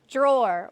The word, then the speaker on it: drawer: I say that word so say it again drawer what word rhymes with drawer follow limit floor or finish floor